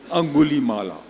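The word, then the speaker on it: Angulimala: اس کا نام ہے, میں ہندی میں اس کا تلفظ بتا دیتا ہوں, انگلی مالا. اس لیے کو انگلی کو ہندی میں انگل اور انگلی کہتے ہیں, تو انگلی مالا.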